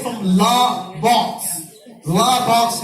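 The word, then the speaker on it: Les Baux: La box is the pronunciation in French.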